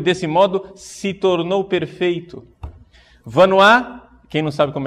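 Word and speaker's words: Vanhoye: Vanois, quem não sabe como é que escreve Vanois e quer anotar, né? Vanois se escreve V-A-N-H-O-Y-E.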